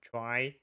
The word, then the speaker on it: trie: Uh this one pronounced is uh I think it's originally we can pronounce it tree but is cause a lot of confusion because uh we have the tree the normal tree and the prefix tree.